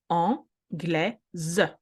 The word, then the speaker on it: anglaise: Anglais, we add the E, anglaise, because the S now has a best friend vowel.